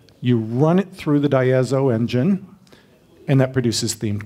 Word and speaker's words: Diazo: blueprints for making group blueprints and it is pronounced die as I've spoken of content of it as if